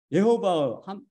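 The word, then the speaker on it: יְהֹוָה: 곳이 우리 주 하나님의 이름이 예호바, 호의 액센트죠. 예호바로 발음된다는 결정적인 증거를 제공하였습니다. 우리 주 하나님을 거룩하신 이름은 예호바입니다. 둘째 단어의 호가. 히브리 사람들의 액센트를 굉장히 중요시 여겨요. 호의 액센트가 있습니다. 호의 강세.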